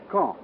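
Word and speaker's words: Caen: of gravity in these reported military operations is K I'll spell that c a en the big city at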